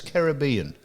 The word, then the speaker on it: Caribbean: Caribbean or Caribbean? And everyone says Caribbean. Now, how it's Caribbean? The Caribbean islands and Monaco. They're the pronunciations that are correct.